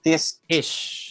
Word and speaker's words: Tisch: He moved to New York after being offered a scholarship at New York University's pronunciation nito? Tisch.